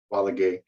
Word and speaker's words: Valague: my name is Joe balague the last thing is pronounced quality uh uh just turned